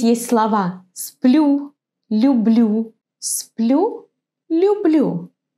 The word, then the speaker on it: люблю: Have a look at this word. Юлия, люблю. I wonder if you can hear that the pronunciation differs a bit. In the word Юлия, it's like English you. In the word люблю, it's softer, it's a bit different.